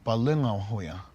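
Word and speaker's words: Palöngawhoya: in our culture, and the older brother's name is pronounced Bukonghoya, and the younger brother Balongahoya.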